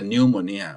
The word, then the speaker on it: pneumonia: he starts from P we don't say P pneumonia we say just the pneumonia but the spelling begins from the P as in the pneumonia